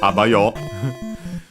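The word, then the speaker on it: あばよ: And last but not least, he says this abayo. You might have heard it in anime or video games. It's a colloquial way to say bye, accented actually on the first syllable, on the a.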